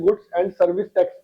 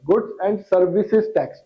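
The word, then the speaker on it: Goods and Services Tax: गुड्स एंड सर्विसेज दोनों में ऐसे है, बहुत सारे बंदे इसको गलत प्रोनाउंसिएशन करते हैं, गुड्स एंड सर्विस टैक्स pronounce करते हैं, गलत है, गुड्स एंड सर्विसेज टैक्स, it's name is imposed by the union or by such state.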